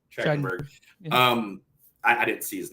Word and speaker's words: Trachtenberg: I read an article about from Dan Thorchenberg or whatever how you pronounce his last name. Trachtenberg.